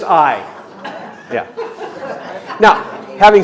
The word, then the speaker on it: Ai: How many of you pronounce that Ai in your head? All right, stop it. Thank you. It's just Ai.